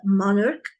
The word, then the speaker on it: monarch: It's monarch. Okay. So, this ch is pronounced c.